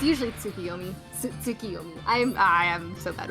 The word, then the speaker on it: Tsukiyomi: like iterations on that name but it's usually tsukiyomi i'm i am so bad with pronunciations alright so carbon got through those two